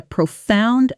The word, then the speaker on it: profound: The sound challenge here is subtle. That ow spelling doesn't sound like the ow in sound or found. It actually rhymes with those words, but a lot of learners overcorrect and make it too flat. Say it slowly. Profound. Stress clearly on the second syllable.